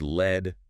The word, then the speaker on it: lead: And pronounced led rhyming with bed.